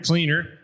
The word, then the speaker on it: Kleiner: year's recipient is dr lawrence kleiner cleaner pronounced cleaner sorry and he already had